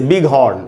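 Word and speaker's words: bighorn: जैसे बिग हॉर्न, एक ऐसे वर्ड है बिग हॉर्न, यहाँ पर भी I के बाद G और H है, लेकिन यहाँ पर दोनों का, G का भी उच्चारण हो रहा है, H का भी उच्चारण होता है, यहाँ पर साइलेंट नहीं होगा क्योंकि ये एक वर्ड नहीं है, दो वर्ड्स को जोड़ के एक वर्ड बनाया गया, ये कंपाउंड वर्ड है।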